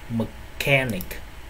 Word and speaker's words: mechanic: Mechanic âm k, còn lại là âm ch, được chưa?